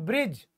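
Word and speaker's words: bridge: जिसे पहले आएगा तो जी से पहले दी आया है ब्रिज दी साइलेंट है ना कोई कोई बोलता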